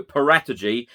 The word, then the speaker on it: Paratici: name as well now every italian journalist everyone who covers italian football actually calls him fabio paratagy i know a number